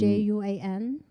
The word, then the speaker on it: Juan: a man's name yeah it's j-u-a-n j-u-a-n so it's like juan oh yeah so i get that all the time i know oh your name is spot juan and then to make